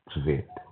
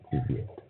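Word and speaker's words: цвет: Um and how you say colors is tsvyet. tsvyet. That is how you pronounce colors in Russian, right?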